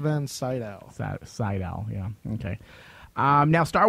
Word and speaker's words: Sydow: van Sydow.